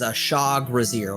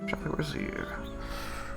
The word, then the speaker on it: Trugzar: Well, his name is Shag, but, the way that we pronounce his, full name is, Trugzar, like, basically Trugzar. Trugzar.